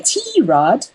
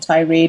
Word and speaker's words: Tirade: and stitcher it's tomboy tierod not tirade or to read it's our own unique way of pronouncing it that's spelled t.o FB